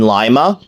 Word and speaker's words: Lima: Ensenada but it's Cincinnati the I in Lima is pronounced like pie not P that's how it was